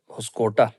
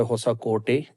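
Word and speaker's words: ಹೊಸಕೋಟೆ: میں ایک قصبہ ہے ہوسکوٹا، جس کا مقامی زبان میں تلفظ ہوتا ہے ہوسا کوٹے، جس کا معنی ہوتا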